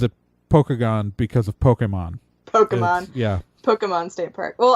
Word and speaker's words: Pokagon: hear it more often it's it's okay everyone mispronounces Pokagon State Park it's supposed to be Pokagon Pokagon I know Pokagon right but everyone I know